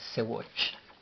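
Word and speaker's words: ሰዎች: palabra, la cual es Sewatch. Sewatch, escrita S, S, W, O, Sewo, Ch, CH, Sewatch. Sewatch. Ahora Sewatch en letras en español sería Sewoch, y no lleva pronunciación de vocal la CH.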